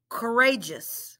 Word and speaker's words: courageous: my next word is courageous correa just cold ray just let's blend it cold rey just courageous say it with me cole rey just courageous good job guys how many syllables does courageous have if you said three you are really good at this my last word today